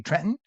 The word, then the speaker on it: Trenton: Northern New Jersey 7° in Trenton, or as they say there locally, Trenton. Trenton, you don't pronounce it. It's swallowed.